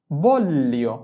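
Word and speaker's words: voglio: এ বল এলি বললি জি এর উচ্চারণটা এল এর মত করে করতে হবে।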